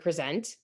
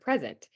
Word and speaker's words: present: That could be the word present. That could be the word present. And if you notice, in present, the stress is in the front, but in present, the stress is on the end.